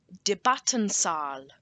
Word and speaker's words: Debattensaal: It is Debattensaal.